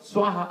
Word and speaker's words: Swaha: When you say Swa, Sa is pronounced from here, tip of the tongue. Wa, the whole mouth is open, right? Swa. But there is more ha.